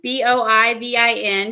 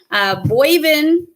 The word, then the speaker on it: Boivin: Bovine is wrong. Boivin, because I said that one time. Boyvin, if you're northern. Boyvin. Bovin is how most people say it. Bovine is wrong. So Bo and Vin.